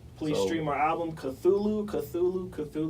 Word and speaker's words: Cthulhu: Please So- stream our album Cthulhu. That's how you Cthulhu. say it.